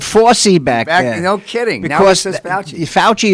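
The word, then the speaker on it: Fauci: foresee back no kidding fouchy is how you say it right you know no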